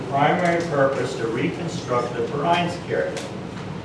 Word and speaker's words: Vereinskirche: purpose to reconstruct the Vereinskerke. And it's pronounced with an F, by the way, if you don't know German wording.